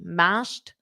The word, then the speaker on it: mashed: mashed potatoes with gravy mashed potatoes with gravy make sure you get that Ed pronunciation as tea mashed potatoes mashed potatoes with